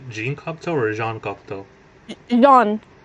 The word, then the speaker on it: Jean: Jean, it's French. Jean. Okay, Jean. Not Uh, Jan.